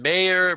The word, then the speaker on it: Mayer: appreciate them I'm Mayer but all my life I was called Mayer like the hot dog until that rock star came along and told taught everybody the correct pronunciation of my name anyhow Steve's the professor